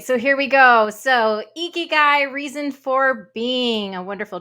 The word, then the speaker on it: ikigai: my favorite tools called ikigai not icky guy pronounced ikigai which is a meaning